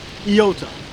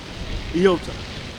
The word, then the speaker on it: Iota: In the Greek, the I is pronounced, well, it looks like an I, but it's pronounced Iota. Iota. You pronounce it with the E sound.